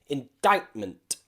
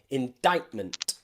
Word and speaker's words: indictment: to cut a crescent another word which we can find that has a silency is the word indictment indictment now if anybody knows what this word means can you write it in the comments i wonder new vocabulary for you today indictment indictment okay here you'll see the c before a strong sound indictment okay indictment okay we're going